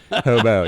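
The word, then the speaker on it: Hobeaux: sell it to it we spell it really fun it's h-o-b-e-a-u-x so when you see that hobo yeah so when we uh when we post that on social media that's how you pronounce that okay hobos yep and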